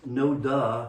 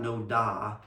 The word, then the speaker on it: NoDa: couple of pet peeves it's pronounced no duh not no da and i really wish